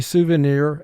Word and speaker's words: souvenir: At the end of this word, IR does not form a team. I is representing its short sound I.